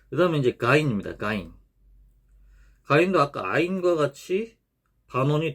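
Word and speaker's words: غين: 그래서 가인, 가인. 우리 각을 할 때 가 하잖아요. 그 가 소리입니다.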